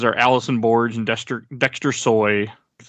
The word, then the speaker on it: Dexter Soy: tomasi the artists are Allison Borge and dester Dexter soy that's how you say it uh those are